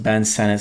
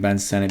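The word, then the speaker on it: Ben Sinnott: looks like it's Senate but he says it's pronounced Ben Senate so that's why I'm saying Ben Senate before anyone gets on me in the comments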